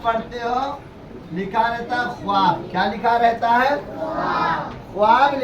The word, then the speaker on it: خواب: میں بتا رہا ہوں۔ اب یہ واو لکھا ہے لیکن اسے پڑھا نہیں جائے گا۔ اسی طریقے سے لکھا جاتا ہے خوش۔ کیا لکھا جاتا ہے؟